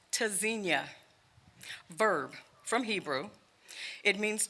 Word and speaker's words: Tzynya: burdened with pain pronounced tezinia verb from Hebrew it means to listen for or to hear spelled t-z-y Nya the first letter T is a stop disrupts airflow quick sharp staccato repeat after me hard